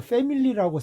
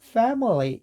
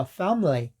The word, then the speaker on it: family: 우리 패밀리잖아요. 저도 사실은 최근까지도 패밀리라고 생각을 했었습니다. 근데 family 이렇게 되고요. 어를 없애 버려 가지고 심지어 family 이렇게 되거든요.